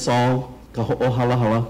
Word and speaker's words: Sol: share that with you today my name is saul can you all say that close okay i